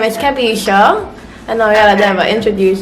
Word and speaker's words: Kevisha: It's pronounced Kavisha, right? Kevisha. Kavisha. Like how you say Kevin, you just take off the N.